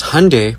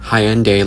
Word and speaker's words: Hyundai: Because Hyundai, pronounced like Sunday, not Hyende like you're saying, is a Korean company.